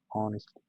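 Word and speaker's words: honest: इसी तरह जो ऑनेस्ट है ये लिखते हैं एच से, लेकिन एच इसमें साइलेंट है, इसको इसमें वावल साउंड बन जाती है ऑनेस्ट, तो इसमें वावल साउंड बनती है और एन का हम इसमें लगाते हैं.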